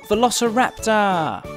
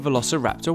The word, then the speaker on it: Velociraptor: let's learn all about Velociraptor how do you say that again ver la see rap sir sometimes they were just